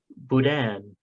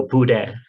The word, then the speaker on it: boudin: boudin it is pronounced boudin sometimes the n is silent and or hardly pronounced so buddha third tom was asking